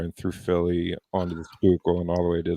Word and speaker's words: Schuylkill: every time he drives, down the Schuylkill into Philly, just The Schuylkill? the Schuylkill. No, Schuylkill. It's I'm called even the more Schuylkill. lost. Wow. I can't spell it.